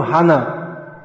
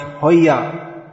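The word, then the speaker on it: হয়: So we often hear this pronounced, very common verse, Amar Agyai Guru Hana. But it's actually pronounced Hoya. Hoya. Amar Agyai Guru Hoya. It's pronounced like a ya.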